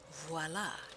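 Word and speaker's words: voilà: um you know in in french when something's accomplished you say voila and it's with a v and americans pronounce it with a w and i my brain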